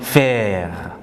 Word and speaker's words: faire: It ends with re and it is pronounced faire.